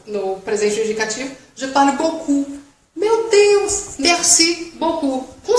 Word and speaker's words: beaucoup: Mas, Luana, tem o P, não se pronuncia beaucoup.